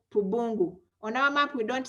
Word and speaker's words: Pubungu: traditional name around there called, around Pakwach, called Pubungu. I'm going to spell it. A capital P, a small u, that is Pu, then B-U, Pubu, N-G-U, Pubungu.